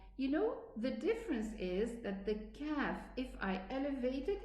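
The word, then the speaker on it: كاف: And also we do the same thing with the kaf. We say ak, ka, ak, ki, ak, ku.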